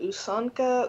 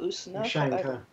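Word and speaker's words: ушанка: God, I don't know how to pronounce it. Usanka? Ushanka.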